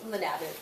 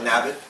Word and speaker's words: LaNebat: Center, and I'm very pleased to welcome LaNebat. Is that pronounced? LaNebat. Yeah. LaNebat.